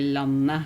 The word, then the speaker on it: landet: But I don't say the t at the end of the word. Instead, I would just say landet instead of the t,